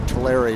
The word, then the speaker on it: Tulare: the other way that's how you say to larry not talar to larry it's often mispronounced in national newscasts tulare is nine miles to the south bakersfield is